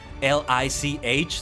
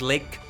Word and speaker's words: lich: L I C H. Sometimes lich, sometimes lick. I've always been saying it lick, but then I heard somebody say lich.